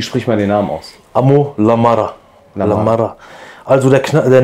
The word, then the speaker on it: Amo La Mara: Was bedeutet Amol Amada, Amol Amada und wie spricht man den Namen aus? Amol Amada.